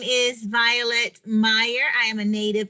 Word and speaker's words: Violette: And am I pronouncing the name correctly? Yes, Violet.